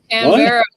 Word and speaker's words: Canberra: Canberra. That's how you say it. Canberra.